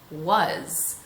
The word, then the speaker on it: was: Words like was. Was sounds like it would be spelled W-U-Z. However, that it's spelled W-A-S just causes one more layer of confusion.